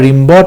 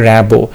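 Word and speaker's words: Rimbaud: তোমরা রিম্বড আমি বলেছিলাম, এটা বানানটা মনে রাখার জন্য রিম্বড বলবে, বাট এটার অ্যাকচুয়াল প্রোনাউন্সিয়েশন হবে র্যাবো।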